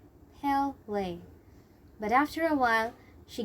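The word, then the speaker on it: Pelé: At first, she wanted to be nice and so tried to correct their pronunciation. It's Pele. Pele.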